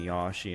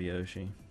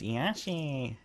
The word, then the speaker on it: Yoshi: actually pronounce it right I have this bad habit of saying yashi instead of Yoshi you like a slow be from Ry price says Mar Mario yeah you know what's funny though is that Yoshi says Yosi like that so it's an I when he says it yeah but you see